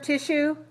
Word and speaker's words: tissue: So notice we don't say su, we say shu. All right? Yes. If I take this T and take a T away from it, then we have the word issue. It also has sh. Okay, so notice that this spelling, I-S-S-U-E, doesn't sound like S. It sounds like shu, sh, tissue, tissue.